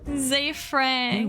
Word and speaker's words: Ze Frank: I always said his name wrong. I'm a fan. Zay Frank.